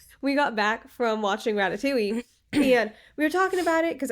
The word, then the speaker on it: Ratatouille: It's Ratatouille.